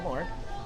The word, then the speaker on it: Lohn: So I am with Lohn. Did I say it right? Who? Lohn. Lohn? Lohn. Close enough. Lohn. Like Lohn. Like you're gonna loan me a hot dog.